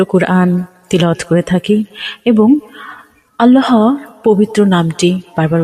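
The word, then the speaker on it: اللهُ: স্বাভাবিকভাবে যেভাবে পড়ি সেইভাবে আল্লাহু শব্দের লামটি এক আলিফ অর্থাৎ এক সেকেন্ডের মত টেনে পড়তে হয় আল্লাহু আল্লাহ শব্দের মোট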